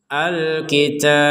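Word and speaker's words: الكتاب: Dan kita berhenti di sini, maka huruf ba ini kita pantulkan. Al-kitab. Ya, jadi tidak sekedar kitab, itu kan nggak ada pantulan huruf ba-nya.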